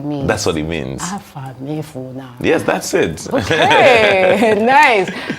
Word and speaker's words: Afamefuna: Afamefuna. Afamefuna. May my name never be forgotten. So that's what it means. That's what it means. Afamefuna.